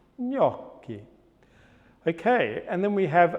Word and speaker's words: gnocchi: What about then if we go pre-palatal and we get that feeling of ny, ny, ny? That's also pre-palatal nasal voiced. Pre-palatal nasal voiced is ny. For example, gnocchi, gnocchi.